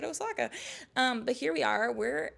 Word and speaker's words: Osaka: But now we're heading over to Osaka, Japan, or as the locals say, Osaka. I felt like nobody would know what I was talking about if I said it like that, so I just said Osaka.